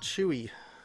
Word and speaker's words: J.O.O.C.: who said their name is pronounced Chewy.